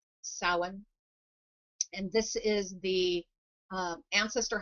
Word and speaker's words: Samhain: It looks like Samhain, but it's actually pronounced Samhain.